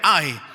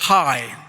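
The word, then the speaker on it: Hai: cómo se se pronuncia si lo quiere pronunciar como hondureño Ay lo quiere pronunciar como gringo Entonces es Hi Okay entonces llega a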